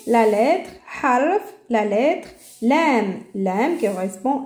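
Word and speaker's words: لام: Lam, lam. Ça correspond exactement à L.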